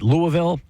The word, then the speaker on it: Louisville: uh Notre Dame beat Louisville it's not Louisville Louisville Louisville Louisville Louisville that's right yeah they'll they'll point it out that you're not saying it right if you were to